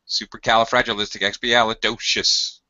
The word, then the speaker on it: supercalifragilisticexpialidocious: word it doesn't matter supercalifragilisticexpialidocious at there's only one and it's a doe yes supercalifragilisticexpialidocious there's only one primary